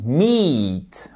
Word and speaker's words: meet: Et on dit pas meet, mais on dit meet, ok? Bon, j'exagère un peu sur la longueur de la voyelle, mais c'est meet. C'est un i long et en fait, c'est exactement la même prononciation que ce mot qui signifie en anglais. Je vous écoute. M-E-A-T, la viande, etc.